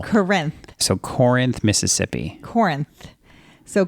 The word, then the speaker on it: Corinth: corn and then I when it's actually Corinth as in like Corinthians the book of the Bible Corinth so Corinth Mississippi Corinth